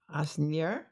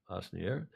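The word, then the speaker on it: Asnières: The trunks will be made bespoke at the historical LV Atelier in, how do you pronounce that, Julia? Asnier. Asnier, to respectively carry 2 trophies, the old mug,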